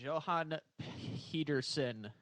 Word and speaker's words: Johan Pedersen: Johan Pedersen. I totally botched Perfect. that. Appreciate you Perfect coming on.